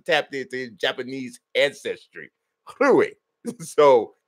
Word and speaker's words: Rui: Hachimura's name, but Nelson says you got to say Rui. You can't say Rui. You got to say Rui. So, because Nelson is tapped into his Japanese ancestry, Rui. So you got to say it like that.